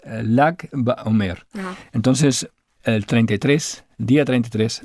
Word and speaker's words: Lag BaOmer: El número 33 se escribe en hebreo con las letras Lamet y Gimel, L y G. Pones una A entre medio y dice Lag BaOmer.